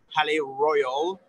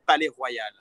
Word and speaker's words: Palais Royal: So I'm going to film the name because we pronounce it with our French accent. So Palais Royal, Royal Palace, but here we say Le Palais Royal.